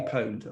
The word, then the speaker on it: pwned: service called isn't it I've been poned or I've been owned I never know how to say this have I been poned yes have I been pwned that's right yes so tell us